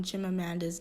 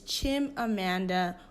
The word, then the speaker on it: Chimamanda: a nigerian hi y'all i really messed up on jim amanda's name and i can't in good conscience let that happen especially as a nigerian so i'm going to pronounce her name again her name is chim amanda ngozi writer who identified you